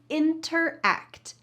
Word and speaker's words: interact: I want to let you know that when we're speaking quickly, we often cut out that first T, and it sounds like interact, interact, interact. That T is just gone.